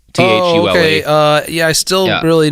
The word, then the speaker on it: Thule: It's spelled Thule Society, like the top racks that people have on their four-wheel drive cars. Thule.